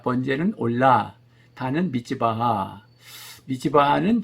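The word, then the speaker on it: עולה: 번제단은 이제 히브리 말로 번제 그럴 때 올라, 우리 한국말이 올라간다 할 때 올라와 발음이 같습니다.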